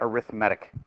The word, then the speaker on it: arithmetic: an arithmetic sequence like spelled like arithmetic but you say it arithmatic what if it had